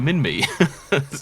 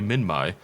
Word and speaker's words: Minmi: I don't want to call it Minmai. I get annoyed when people call it like Giganotosaurus and stuff like that, because it should be Giganotosaurus. That's the correct pronunciation. But I call it Minmi. So how can I complain when it should technically be Minmai?